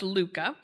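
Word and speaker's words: hygge: And so imagine my surprise when I picked up the little book of Luca, this very differently spelled word is is pronounced Luca.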